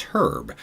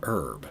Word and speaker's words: Herb: When it's a person's name, it's Herb, not Herb. But anyway.